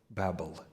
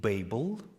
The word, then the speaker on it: Babel: some pronounce it Babel some pronounce it Babel I checked different sources so what would you like me to use Babel or Babel Babel I think Babel is the traditional right know Babel is better well yeah if we